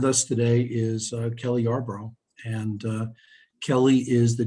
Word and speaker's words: Yarbrough: we're going to start off with uh kelly yarbrough and kelly and my am i pronouncing your last name right yes you are